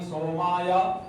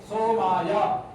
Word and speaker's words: सोमाय: अग्नाय क्या बोलना है आगे सोमाया सोमाय नहीं बोलना है सोमाया चतुर्थी का चतुर्थी विभक्ति